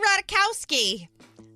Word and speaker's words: Ratajkowski: she had to say Emily how do you pronounce your last name Emily radakowski I think I'm probably gonna keep calling her